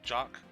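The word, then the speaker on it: Jacques: seal the deal Jax Jax is pronounced like jock jock Sportsman okay pleasure to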